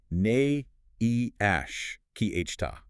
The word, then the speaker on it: Neemias Queta: the big man, Nimas Queta. And real quick for anyone listening who wants to get that right when talking with their friends, the pronunciation is Na Ash keyhta.